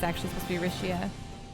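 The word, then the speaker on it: Alisha: like rishia actually I always called her vixia until I was listening to the way they pronounce her name in Japanese they say rishia so I imagine it's actually supposed to be rishia like Rish a lot too yeah she's great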